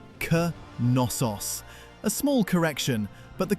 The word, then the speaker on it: Knossos: It isn't nosos with a silent first letter. The K is pronounced and the stress lands on the last syllable. C nos.